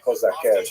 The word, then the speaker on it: Cossacks: followers were the so-called Cossacks, or Cossacks. Who were these Cossacks? Cossacks, or Kozakev, to use the Ukrainian pronunciation, were basically Ukrainian peasants